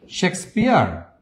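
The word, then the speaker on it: Shakespeare: ঠিক আছে, শেক্সপিয়ার, উচ্চারণটা ঠিক মতো করবেন, অনেকে উচ্চারণে উল্টাপাল্টা করে ফেলেন। শেক্সপিয়ার, এই সেই শেক্সপিয়ার, উনার জন্ম কবে?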